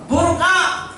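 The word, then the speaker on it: برقع: बुर्का, उसका उच्चारण पूरा है बुर्का, बे, काफ, ऐन और ए। बुर्का उच्चारण होता है।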